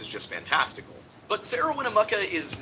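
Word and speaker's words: Winnemucca: But Sarah Winnamaka is not the only person to recount this story. And also, I do apologize for pronouncing it Winnamuka all that time.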